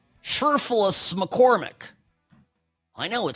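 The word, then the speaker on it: Cherfilus-McCormick: I was pronouncing it absolutely correctly. Sherfulus McCormick.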